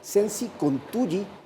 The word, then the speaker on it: Sensi Contugi: El apellido de él ha sido complicado de pronunciarlo. Hay que recordar que Michele nació en Italia de madre guayaquileña, también vivió mucho tiempo aquí en nuestro país, pero por eso su apellido se pronuncia Sensi Contugi.